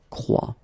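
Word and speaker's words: croient: And last but not least, look, il croit, elle croit. And phonetically here, as we saw, ent is not pronounced, so you get the sound croit.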